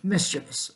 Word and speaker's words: mischievous: with it but just pronounce it the correct way mischievous all right that's all